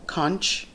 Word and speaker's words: conch: delicacies is conch and most people here pronounce that I guess the way that it's spell conc H conch I have to periodically correct folks on that it's not conch its conch the other thing that